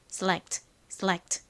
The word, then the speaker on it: select: 한국식으로는이 t에 발음을 보통 빼고 표기하거나 발음하는 경우가 많은데 실제로는 select 이렇게 살짝 소리가 들어갑니다.